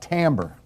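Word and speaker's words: timbre: what else anything else how about tamber it's pronounced completely different from what you think it would be pronounced when texture form so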